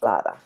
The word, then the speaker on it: Laura: It's pronounced Lauda.